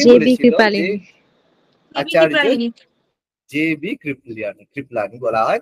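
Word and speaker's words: কৃপালনী: এটা বলেছিল যে কে করেছিল আচার্যালি জেবি কৃপ্লিয়ানী কৃপ্লানী বলা হয় কৃপালিনী ঠিক আছে এটা উচ্চারণে কৃপালিনী উচ্চারণ করি একচুয়ালি নাম হচ্ছে কৃপ্লানী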